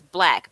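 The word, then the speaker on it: Blaque: really say it right but it's black b-l-a-q-u-e it's like all this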